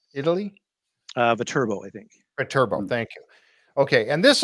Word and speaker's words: Viterbo: And this is in the church, the Santa Maria Nuova church in how do you pronounce that? Vertebro, Italy? Viterbo, I think. Viterbo, thank you.